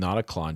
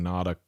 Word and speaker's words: Notaklön: Please tell Rhett to remove the R sound from how he's pronouncing Notaklön, and he's there. The Swedes will never forgive me otherwise. Well, okay, so but you said that the umlaut is like an ER sound, like as in her, like the in her.